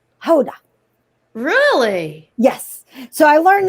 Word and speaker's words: Gouda: here in the netherlands it's kind of like we say gouda when it's actually hoda really yes so i